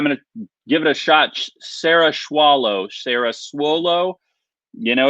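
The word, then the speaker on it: Cerasuolo: The C is more like an S.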